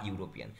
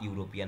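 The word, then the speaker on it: European: কারণ দেখো উচ্চারণটা, দেখো আবার উচ্চারণটা আবার ওয়াই ও ইউ এর মতো আসছে, তাই জন্য এখানে হি ইজ আ ইউরোপিয়ান হবে, এখানে অ্যান্সার হয়ে যাবে এ।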